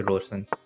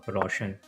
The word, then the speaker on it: Rosen: Ronka versus Rosen. A lot of Indians pronounce Rosen as Roshan.